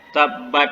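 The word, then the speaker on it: تبّ: Kan ada tasdid di atas ba. Berarti bacanya Tabba. watab. Berarti tasdid ini lama. tasdid ini nggak apa pakai. Nah, tasdid itu menandakan bahwa itu ada dua buah ba di situ.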